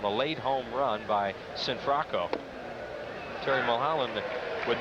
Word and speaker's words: Cianfrocco: Sinfracco. They told us that's the way you pronounce his name. Or it's a household name. Yeah. Archie Sinfracco. We were calling him Cianfrocco for the last couple years. And he wants to be called Sinfracco, so he's got it.